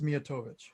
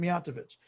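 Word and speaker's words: Mijatović: the milwaukee area and they definitively said it's miyatovic it's like every other croatian name that's pronounced that way but then guys are calling them miatovich and then the final one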